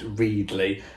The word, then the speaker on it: Readly: Yes, it's pronounced Readly.